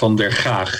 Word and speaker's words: Van der Gaag: It's Van der Gaag.